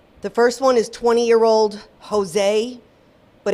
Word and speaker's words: Josue: The first one is 20-year-old Jose, but it's spelled Josue.